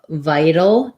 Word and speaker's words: vital: a video for viral vital does sound different so in vital we have a flap t it sounds a little more like a d sound so we have the